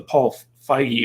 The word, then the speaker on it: Feig: remind me of the paul feige or paul feig i pronounce his name situation where we're basically not with an a even though many are tempted to think that his feet but basically he made a